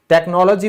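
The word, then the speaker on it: technology: टेक्नोलॉजी में hatch silent होता है।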